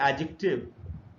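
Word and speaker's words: adjective: Next जो word है वो है एडजेक्टिव। अच्छा, इसको एडजेक्टिव नहीं पढ़ना चाहिए। अगर आप ट्रांसक्रिप्शन सीख लेंगे तो आपको मालूम पड़ेगा कि इसमें जी साइलेंट होता है।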